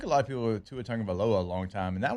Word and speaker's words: Tagovailoa: It took a lot of people to Tagovailoa a long time, and that one's not actually bad. No, once you say it. Yeah. I still say Tagovailoa.